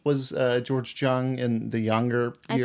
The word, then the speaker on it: Jung: How old was George Jung in the younger I years? thought it's Young. Jung or whatever. That's how they kept pronouncing it. Yeah, Young. young.